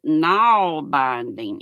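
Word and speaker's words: nålbinding: Oh, Missy says you pronounce it knoll binding it like n a w l.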